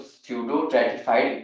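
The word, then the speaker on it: pseudostratified: डी सडो ट्रेटिफाइड epithelium P इसमें silent होता है इसे हम लोग सडो ट्रेटिफाइड एपिथीलियम बोलेंगे ई पी आई टी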